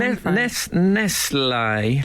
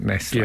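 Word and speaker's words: Nestlé: let's call them uh eventually they became Nest I think they just thought the English people won't get nestler if we put an accent on the E they won't buy it yeah um they own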